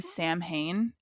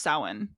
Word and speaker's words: Samhain: real quick before we go though, when I was editing the astrology episode, we kept saying Samhain, and that's not how it's pronounced. It's No, it's pronounced Samhain.